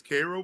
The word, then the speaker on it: Carroll: Is it Carol if I pronounce Carol? Yeah. Yeah. Yeah. Carol, you got it. Hey. All right. You're You're It's Carroll and like actually it's Carroll.